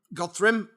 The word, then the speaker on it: Godthrymm: go currently currently the bands you in godr godri yeah I've said it right yep been doing